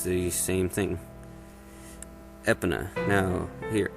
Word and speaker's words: Epona: thing epona now here i've always pronounced epona as epona but i've always been told many times it's no it's ipona or epona usually because it's either probably supposed to sound like pony or referring to a goddess or something well now i've checked